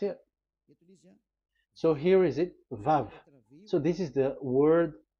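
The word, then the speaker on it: וו: So the word, the shape Vav is really pronounced V, like Vogue.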